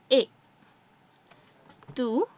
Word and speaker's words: est: So the answer is because this T, that is T in French, is silent here, right? Okay. Il est means he is.